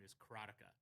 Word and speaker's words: Karateka: I pronounce it, and I've always pronounced it, and you're going to hear me say this all the time, is Karateka.